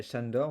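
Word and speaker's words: Sándor: Mon prénom en fait c'est Chandor mais avec le S parce en en hongrois le S se prononce Ch.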